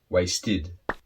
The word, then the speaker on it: wasted: So verbs that finish with a D or a T sound that are regular with the ED, you then pronounce id. Wait, waited. Need, needed. Accept, accepted. Waste, wasted.